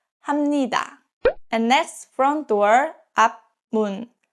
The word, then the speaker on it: 합니다: So this case, 합 is pronounced as 함. So it's 합니다, 합니다.